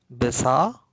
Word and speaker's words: besar: But in spoken Malay, we make it silent. We don't pronounce the R. We say perlu, besar, lapar.